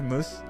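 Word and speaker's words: mousse: kind of hair product how do you pronounce this and also moose okay moose uh also what's this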